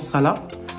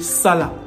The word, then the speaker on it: Salah: Ça, c'est en Kikongo, on prononce Salah. Et en lingala, Salah.